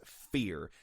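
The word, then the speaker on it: ph34r: who is known as fear and fear is spelled ph34 r if you grew up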